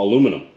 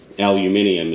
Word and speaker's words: aluminium: like what it is, which is raw aluminum, you know, aluminium, as you Brits say.